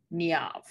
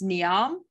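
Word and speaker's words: Niamh: right well it's interesting it says on the google that you pronounce this name niav i'm in disbelief i it's to me it's neon the internet says and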